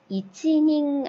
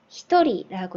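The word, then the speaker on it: 一人: 이거 이치닝 아니고 뭐라고 읽는다고 했죠? 히토리라고 했죠.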